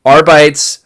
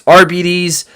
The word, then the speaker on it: Arbites: I was saying Arbites. I knew it wasn't Arbites. It's Arbides. It sounds kind of like diabetes.